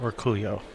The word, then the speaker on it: Orcullo: you know explain why everybody calls him Dennis or Colo too and not or cool yo yes the pronunciation is definitely or Coolio man cuz I didn't understand why you know I had heard somebody say his name that way and it's like but wait a minute it's O LLO it that's or Colo yeah yeah there's no I or Y in there to make that that Julio song